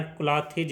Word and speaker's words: clothes: CLOTHES अगर लिखा होता है तो इसका मतलब होता है जिसका उच्चारण क्लॉथेज होता है और उसका अर्थ होता है सिले हुए कपड़े।